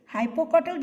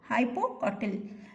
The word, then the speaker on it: hypocotyl: है और ये जो ग्रीन भाग है इसे हाइपोकॉटल कहते हैं बच्चों, हाइपोकॉटल। और इसकी स्पेलिंग मैं कर देती हूँ HYPOCOTYL, हाइपोकॉटल।